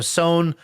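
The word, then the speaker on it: Sohn: this talk at the sewn conference and so sone i don't know if people know it's spelled s-o-h-n it's like this big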